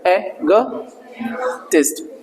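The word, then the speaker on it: egotist: ईगोइस्ट अलग है, एगोटिस्ट, एगोटिस्ट, एगोटिस्ट। सर जब आप बोलोगे ना कहीं जहां सभ्य समाज होगा, जो अच्छी इंग्लिश जानते हैं, आपको लोग प्रेज करेंगे, इसलिए आपका रियल प्रोनाउंसिएशन सीखो, ठीक है ना।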